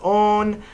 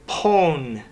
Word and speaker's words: pwn: Dear Jeremy, I noticed in the show you pronounce own as own, but my friends and I say pone.